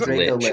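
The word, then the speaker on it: Dracolich: Draco Lili is The most common pronunciation that I've heard is Draco lich.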